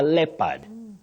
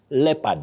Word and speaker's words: leopard: talked about leopad leopad when that o is silent it's a leopard leopard not leopard but somebody